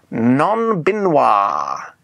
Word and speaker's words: non-binoir: Non-binoir. You should say it like you're an American who's just trying to speak French.